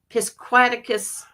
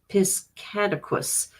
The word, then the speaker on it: Piscataquis: Richie says he has found one in the Piscataquis. I think I said it wrong. Piscataquis. Victorian, maybe. Brian Euler. That is awesome. I'm going to the few yards. Okay, cool. Piscataquis.